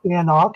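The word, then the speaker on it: AnCnoc: other distilleries for example and knock it's spelled a-n-c-n-o-c it's a little bit of a weird spelling okay anak is another one that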